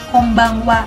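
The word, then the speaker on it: こんばんは: Tapi bacanya konnichi work Kombang hat tulisnya Tapi bacanya Kombang Wa jadi minnesang ingat ya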